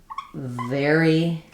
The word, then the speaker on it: very: My mouth is in the same position for the vv as it is for the f sound. So I have the word fairy and the word very. The v is just a